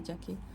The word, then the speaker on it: Z: ये बहुत बार होता है कि हम इंडियंस इसको जेड बोलते हैं। हम ये इंडियन प्रोनाउंसिएशन है, पर आप जब देखेंगे यूएस और अलग टाइप के एक्सेंट का, तो इसको जी ही बोलते हैं और यहाँ जी ही यूज़ किया जाता है।